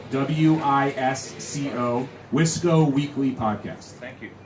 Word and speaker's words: Wisco: Wisco, WISCO, Wisco Weekly Podcast.